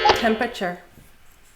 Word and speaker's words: temperature: If you catch a cold or the flu you might have to take your temperature. Three syllables tem-per-ature.